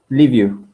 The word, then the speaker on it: Liviu: Liviu. Liviu. Okay, that's exactly how it's spelled.